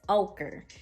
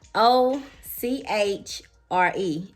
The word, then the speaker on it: ochre: pronouncing it wrong this color i'm wearing is ochre but it's spelled um it's spelled like o c h r e it's ochre so this is the first one